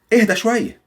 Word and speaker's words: اهدى شوية: When I say اهدى شوية. اهدي شوية. Yes, it means calm down. Why? Because it has an H.